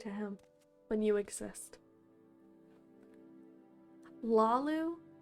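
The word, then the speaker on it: Hlaalu: Lalu? Silent H.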